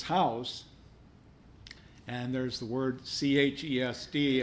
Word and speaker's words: Chesed: Well, we know that Beth means house, and there's the word Chesed. Apparently the C is silent. Hesed means mercy.